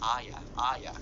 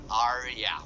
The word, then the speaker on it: Arya: And that's just how she pronounced it. As Aya. Arya po.